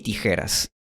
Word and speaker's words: tijeras: Así que estas 3 palabras dejaron de pronunciarse Mexico, chabón y tijeras y empezaron a pronunciarse México, jabón y tijeras.